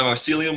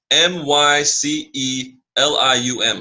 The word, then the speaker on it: Mycelium: Bitcoin price so as I load up my mycelium wallet if you don't have a mycelium wallet